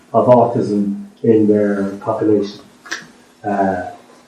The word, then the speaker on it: sarcoidosis: Sarcoidosis, that's how you pronounce it. Sarcoidosis.